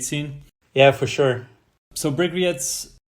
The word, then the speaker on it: Bryggeriet: So Bryggeriets, how do you pronounce it properly, actually?